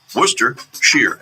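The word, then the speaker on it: Worcestershire: a little kid yeah how do you say it Wester wer Shear Wester Shear wer Shear that's it Worcester sheer s h e e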